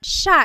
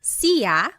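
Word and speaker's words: siya: so it's just you by yourself one person sha means he or she and I want to point out that sha is gender neutal that means you have to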